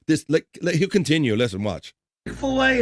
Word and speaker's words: Chick-fil-A: Chick-fil-A, it's CHICK. Let's spell it for you. FIL for Phil, and then the letter A, Thank capital you. A. Thanks. Chick-fil-A, go eat there.